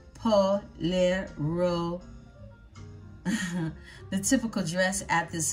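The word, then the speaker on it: pollera: This Panamanian folklore dancer wears a palero, pronounced polero, the typical dress at this historical site, which is called the Panama La Vieja, or the Old Panama.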